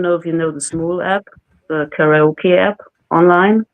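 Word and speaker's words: Smule: people I don't know if you know the Smoo app, the karaoke app online.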